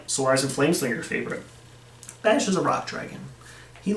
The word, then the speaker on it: Bash: and flameslinger your favorite bash is a rock dragon he looks cool he has a simple name it rhymes with crash but his moveset is